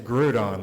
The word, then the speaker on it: Groudon: I'm like, it's Groudon, like Groupon.